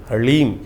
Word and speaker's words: ह्लीम: ह के पैर में र है, फिर उसमें साथ ही में ल लगा हुआ है और ऊपर से बड़ी की मात्रा बिंदी, ओम ह्लीम। इसका उच्चारण इस प्रकार से है।